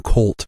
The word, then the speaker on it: kvlt: and there's I jokingly said the term true cult earlier which whenever you see that that which